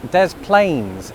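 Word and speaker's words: Des Plaines: got speaking to somebody who was from Dez Plains in Illinois. And it got me wondering why does one of these French sounding places keep the S's and the other doesn't.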